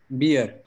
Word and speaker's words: beer: these words very often beer no beer is what you drink beer with a double e okay that's the correct pronunciation for beer what you drink what